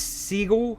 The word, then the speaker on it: Seagal: you call it, like its tank it is seagull. How do you pronounce Seagal?